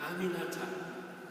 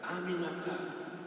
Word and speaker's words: Aminata: Aminata, 4 syllables. It's really not that hard. Aminata, I told her.